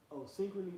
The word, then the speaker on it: Synchrony: How you pronounce that one? Synchrony Financial.